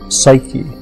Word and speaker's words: psyche: was soo kegs and grief psyche is how we pronounce it now and the word means